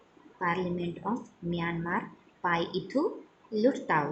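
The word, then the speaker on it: Pyithu Hluttaw: सो Myanmar का है पाइथुलुताउ. This is the parliament of Myanmar. पाइथुलुताउ. यहाँ पर H साइलेंट है, यहाँ H का साउंड नहीं लेना है, L का लेना है.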